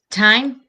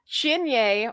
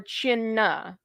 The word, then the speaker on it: Teine: Time? Yeah. That's not how it's pronounced, though. It's pronounced Chinye or Chinna. And I was just like, there's no CH in there.